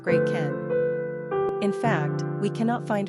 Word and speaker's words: Gretchen: In any case, today, the name Gretchen is largely considered old-fashioned and outdated in Germany, where, by the way, it's pronounced Gretchen.